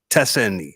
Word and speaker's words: Teseny: Pronounce Tessini. Tessini.